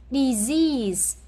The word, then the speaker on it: disease: Disease. Yes, disease. Còn những cái còn lại thì mình đọc là âm e.